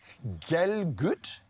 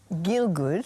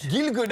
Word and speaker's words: Gilgood: Gelgood? Gilgood. Gilgood. Oh, I was close. I was close. All right. But actually, you're pronouncing it like my ancestors. Galgood was the Lithuanian pronunciation.